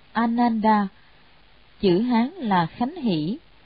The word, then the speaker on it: Ananda: Ngài A Nan Đà, Ấn Độ đọc là Ananda, chữ Hán là Khánh